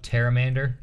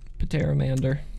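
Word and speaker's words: Pterramander: the addition of the terramander pateramander no the p is silent probably the terramander terramander the p i promise you that p is probably silent whoops like that guys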